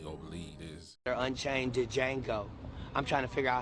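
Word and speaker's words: Django: letter before he says my name is Jango the J is silent isent you're not even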